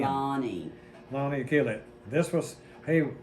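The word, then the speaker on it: Lonie: This is well, it's spelled L-O-N-I-E. Everybody wants to say Lonnie. It's actually the way they spell Lonnie for one N. Lonnie.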